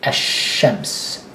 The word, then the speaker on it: ash-shams: you pronounce that, and you skip the l, that is nothing. You don't pronounce it as if it doesn't exist, but you write it there. But it, as if it doesn't exist, you say ash-shams, ash-shams, as opposed to a qamar.